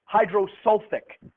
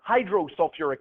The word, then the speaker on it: hydrosulfuric: Now, you might think taking the sulf and putting it in you'd get hydrosulfic, but it isn't. They add an extra syllable.